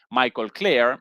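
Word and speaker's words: Michael Klare: Momento, responde, perdón, no presenté como la vez pasada el nombre de este señor Michael Claire. Esa la pronunciación eh correcta en Tom Dispatch, una publicación crítica de la izquierda estadounidense.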